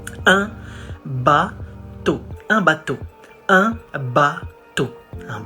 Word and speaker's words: un bateau: You say un bateau. It's masculine, so we say un, not en. Un bateau.